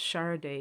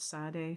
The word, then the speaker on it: Sade: for me and um her name is pronounced shara day isn't it not sade charde but that that idea